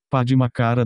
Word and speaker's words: Padmakara: Padmakara deve ser pronunciado com a ênfase na segunda sílaba, que tem um som de A mais que na verdade